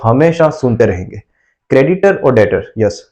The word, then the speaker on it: debtor: रहेंगे क्रेडिटर और डॉटर्स इसको डिटर बोलते हैं यहां पर 20 साइलेंट बहुत सारे लोग इसे बेस प्रोनाउंस करते हैं कुछ लोग इसे डेप्सर कुछ लोग डेबिटर बोलते हैं हकीकत में से बोलते हैं डेटर और ये है क्रेडिट